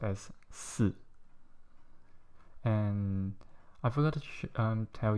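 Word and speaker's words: 四: This is how it looks, and it's pronounced as si.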